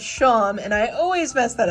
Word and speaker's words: Seam: That's the Sham. Oh my gosh, I can never say their name. The kitty from Deltarune, because it's spelled like seam, but it's pronounced like how you pronounce Sean. So it's Sham, and I always mess that up.